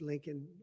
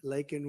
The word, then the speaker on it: Laken: lakan Riley you know Laken very well now and after months of prodding him Biden couldn't pronounce her name he said he said Lincoln Lincoln Riley and Lincoln Riley was